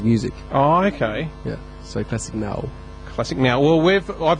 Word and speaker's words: Classik Nawu: Classic null. Yeah. Oh, is it pronounced classic null? Yeah. Null. So I've been saying n woo.